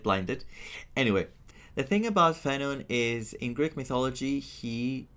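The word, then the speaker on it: Phainon: The name is pronounced Fenon. Characters in the game call him Fon, but I I should tell you that it's an actual Greek name.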